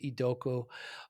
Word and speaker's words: Idoko: Your last name is I D O KO pronounced Idoku.